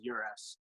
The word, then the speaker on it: Uresk: to say it, but the Americanized version is Uresk. But Uresk. Yeah, I would imagine in Europe they pronounced it the way you did.